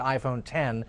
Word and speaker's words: iPhone X: They may pronounce it iPhone 10, and that's going to